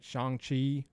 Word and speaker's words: Shang-Chi: I'm like, all right, I want to go see I said Shang-Chi because I was like, there's no way they know it's pronounced Shang-Chi.